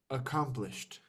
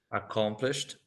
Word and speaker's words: accomplished: what you have accomplished it's correct to say accom accomplished accomplished in your career also